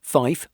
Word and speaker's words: five: Specifically, 3, 5, and 9 are pronounced tree, fife, and niner.